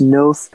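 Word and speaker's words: Knowth: So the first way I started working with celestial movements has been through this Noth calendar stone.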